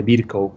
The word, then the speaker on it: Virchow: conocemos, pregunta típica de NARM, la triada de Virchow o de Virchow, se escribe en español con este W final y B chica.